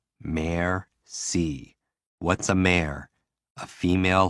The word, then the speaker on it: merci: and what they go merci what does it mean thank you break it down mayor c what's a mare a